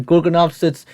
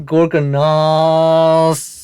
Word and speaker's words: Gorgonopsids: Dude, this guy pronounced the the Gorgonopsids correctly now. Not gorgonos were quadripedal predators